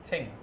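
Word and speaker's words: 清: Qing means it's very, very clear. How to pronounce it? Qing. Qing. Qing. Qing. Like Qing Dynasty, very qing.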